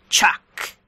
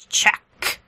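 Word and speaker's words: Chak: new bug species called Chuck Chuck the NBCS have a interesting pronunciation of Chuck yeah they really enjoy the K they really love emphasizing the K and also sometimes it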